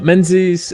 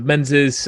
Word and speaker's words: Menzies: name please correct me Menzies is that right uh yeah uh Menzies uh Menses um or in kind of native Scotland Dominguez so it's pronounced differently all over the place so so don't worry